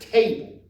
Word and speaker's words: table: And we pronounce chair, chaise, but now we're at table. Table, which is tab.